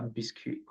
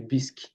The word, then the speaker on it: bisque: This one is This is a lobster biscuit. I'm not I don't know if I got the pronunciation right. Maybe lobster lobster bis or it can be biscuit. Should be bisque.